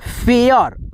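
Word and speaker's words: fare: उसके बाद से क्या है, एफ ए आर ई, फेयर, फेयर means होता है भाड़ा या सवारी।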